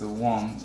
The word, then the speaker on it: Wong: Philip has a Chinese name, last name Huang, pronounced as Wong in Cantonese, and Qi or Kai in Cantonese, and Hong in Cantonese is Wong, Kai Wong.